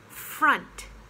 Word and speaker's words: front: none it's none and front yes front in front the opposite in of in back it looks like front don't do the nasal sound front uh it's front and that reminds me